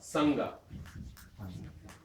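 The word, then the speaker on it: संघ: Sangha. This is a different na, it's a nga. If you try to pronounce that separately, nga, it's a big headache. But if you put it next to the ga, sangha. Notice where your tongue is when you pronounce sangha. Sangha.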